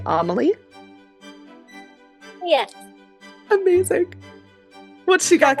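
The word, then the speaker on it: Amélie: I'm going to assume that we're pronouncing this like the movie Amaly.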